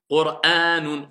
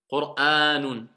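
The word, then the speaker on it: قرآنٌ: Le alif avec la sorte de petite vague, ça nous indique deux temps. Un mètre plus le hamza, deux temps. Qur'anun. Voilà pourquoi on ne dit pas Qur'an. Qur'anun.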